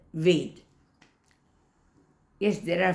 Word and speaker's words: Ved: So the word Ved must be pronounced as Ved, V-E-D, because Ved, when we